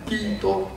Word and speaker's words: Kitô: Cách phát âm, mình phát âm theo tiếng Latin, chữ Christus, Christo, mình không đọc chữ S được, thì ngày xưa đã phiên âm thành Kitô.